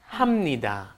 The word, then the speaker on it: 합니다: me die it doesn't it looks like you should be saying how many that but that's once again I'm having trouble pronouncing it happy da so you end up saying hamnida hamnida hamnida and one